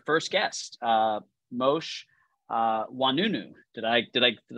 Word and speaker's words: Oinounou: today by our first guest uh mosh uh wanunu did I did I did I pronounce it correctly you got it Rakesh yes